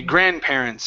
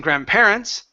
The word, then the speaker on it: grandparents: sound here mmm okay grandparents okay right here instead of stressing the end saying grandparents the word is grandparents grandparents good you'll have